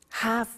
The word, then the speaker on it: have to: I have to notice I don't say V I say F have half it becomes have to